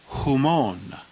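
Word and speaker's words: ὑμῶν: of the singular the plural genitive is pronounced come on who moan the plural dative who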